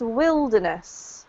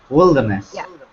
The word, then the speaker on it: wilderness: in the wild um but this this is pronounced Wilderness okay okay Wilderness perfect well done all right so first of